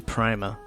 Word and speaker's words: Prima: Oh, I keep mispronouncing it. It's Prima. Prima Classic, I thought was inferior to Prima in every way, shape, and form.